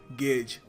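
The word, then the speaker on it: gauge: देखिए इसको मैंने देखा है कुछ लोग गाउज प्रोनाउंस करते हैं बट सही तरीका इसको प्रोनाउंस करने का है। गेज गेज।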